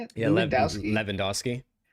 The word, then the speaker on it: Lewandowski: Yeah, Lewandowski.